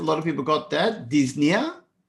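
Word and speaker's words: dyspnoea: of people got that disne again the O is silent Disney so is the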